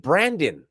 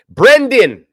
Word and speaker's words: Brendan: street dude obviously he trusted Brandon brandan Paul that's your name right Brendan Brendan Paul get it together dubs you're gonna say his name say it right and he beat all